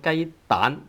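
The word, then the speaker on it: 雞蛋: But then when we say something like chicken egg, we call it 雞蛋, 蛋蛋, tone 2 instead of tone 5.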